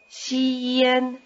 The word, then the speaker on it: 先: It may help to stretch out the first syllable, xian, and then speed it up.